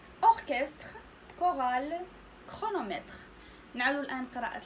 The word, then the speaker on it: orchestre: اوركستر هي اوركسترا. اوركستر فهنا سي اش تنطق ك. اوركستر هذه ما تنقراوش اورشستر، ما كنسمعوش سي اش انما ك.